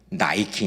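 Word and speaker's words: Nike: 다 니케 니케 니케이 니케의 영어식 발음이 나이키 있니다 1971년 나이키의 창립자인 는이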